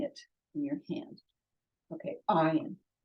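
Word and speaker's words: עין: Okay, ayin. Silent. Okay, there are two silent letters in Hebrew, the aleph and the ayin, but they're different.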